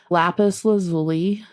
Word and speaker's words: lapis lazuli: could be really helpful lapis lazuli lazuli I believe it's how is how it's pronounced it's like a really